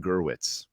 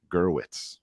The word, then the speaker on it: Gerwitz: I was reading and I said the author's name wrong wrong it's Brian gerwitz gerwitz okay so just just